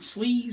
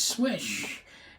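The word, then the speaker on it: Slysz: swish marcin swish swayback it's not sleazy sleazy or slides it is swish and I know that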